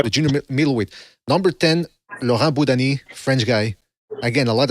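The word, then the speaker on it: Laurent Boudouani: Laurent Boudani. Okay, I always pronounced it differently.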